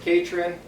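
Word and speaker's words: Catron: again please it's catr o n pronounce Kate Hren um c18 can we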